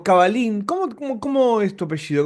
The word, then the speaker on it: Cavallin: Bueno, estamos con Caballín o Cabalín, ¿cómo cómo es tu apellido? ¿Cómo se pronuncia? Cabalín. ¿De dónde? Es italiano, pero bueno, se escribe cabalzin con dos L, pero se pronuncia con una.